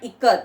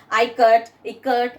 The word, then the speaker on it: ikat: They are pronouncing it as ikat, like that. Now children, okay, teacher understood the children and immediately she gave the pronunciation as how. Now Janaki teacher said it is pronounced I as in it.